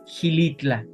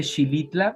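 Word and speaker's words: Xilitla: Hay un pueblo mágico que se conoce que se llama Hilitla. Quienes dice Shilitla, pero Gilitla no se escribe con X.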